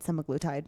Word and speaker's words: semaglutide: And then it took me to a checkout page where I had the option of 1, a compounded semaglutide, 4.